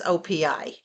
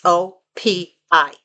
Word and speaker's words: OPI: Now, granted, these are not as expensive as OPI, right? Some people say, oh, it's OP. No, it's not. It's OPI. That's how it's said.